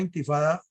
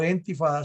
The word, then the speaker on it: intifada: Una intifada o entifada, se pronuncia de las dos maneras, es una palabra que